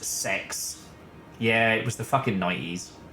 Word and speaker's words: CeX: wondering what CeX is so in the UK C originally pronounced sex yeah it was the